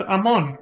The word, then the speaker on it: Amon: days was in fact Amon all along I think it's pronounced Ammon right events of Earth shaking